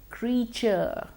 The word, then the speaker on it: creature: Next, creature, C-R-E-A-T-U-R-E. Now, although it is C-R-E-A, we don't say creature, we say creature.